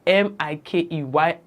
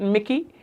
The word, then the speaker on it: Mikey: name is spelled m-i-k-e-y I do not know how people arrived at Mickey I was called Mickey from the day I was born until I am able to stand on my own and say my name is Mikey and call me who